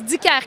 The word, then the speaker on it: Dicaire: I'm delighted to be joined by Marie-Eve Dicaire. Is that how I pronounce it? Just tell me. Well, you're close. Dicaire, can you say that? Say Dicaire, is that it? Dicaire.